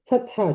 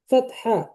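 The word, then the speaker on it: فتحة: আরবরা ফাতহা, বলে ওঠে ফাতহা, ওরা ফাতাহ, ফাতহা, ফাতাহ হয়, ফাতাহ, কিন্তু আমরা উচ্চারণ ফাতহা, ফাতহা বা ফাতাহ, এটাও হয়, কিন্তু আমরা বলবো ফাতহা।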